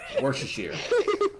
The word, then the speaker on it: Worcestershire: Jesse, Worcestershire. Worcestershire. The worst. Worcestershire. That's how you say it.